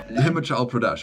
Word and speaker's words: Himachal Pradesh: Himachal Pradesh.